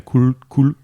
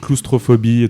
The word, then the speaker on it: coulrophobie: Bref, des œuvres qui font la part belle à la coulrophobie. Bien dit. Je l'ai mal prononcé pendant tout le reste de ma vie, en fait. J'ai dit claustrophobie tout le temps. Coulrophobie.